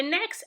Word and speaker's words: Ne: This Abịdịị is not pronounced the same way as in the English alphabet, N. It is pronounced as in the letters N-I, Ne, in the U.S. coin nickel. Say it with me. Ne, Ne, Ne, Ne, as in nickel.